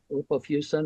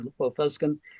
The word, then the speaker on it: lipofuscin: this stuff it's called depending upon who is pronouncing it lipop fusin or lipop fusin um and centrophenoxine dissolves